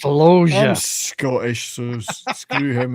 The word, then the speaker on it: Loggia: Robert Loggia. Loggia. It's pronounced Loggia.